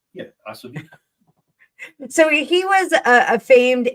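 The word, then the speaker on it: Ossowiecki: We need a V. Oswicki. What is W? I don't know. It's a V. Yeah, Oswicki.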